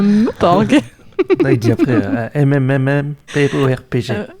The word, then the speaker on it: MMORPG: Développé par comment ça se prononce? Un Meuporg.